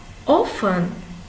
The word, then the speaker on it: often: silent h last one often often often has a silent t now we are going